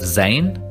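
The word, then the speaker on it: زاي: Then we have zain, written like ra, but with the point on top, and we pronounce it z, like a Z.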